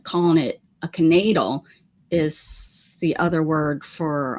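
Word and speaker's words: knaidl: about that before oh look maybe you're yeah canal and that's how we pronounced it k n a i d l canatal that's how we pronounced it okay which that's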